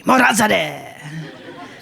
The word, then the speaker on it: Morazadeh: is actually shortened from Morazadeh. So for an accurate pronunciation, you want to say it like you're angry. Morazadeh. Because Farsi sounds so angry.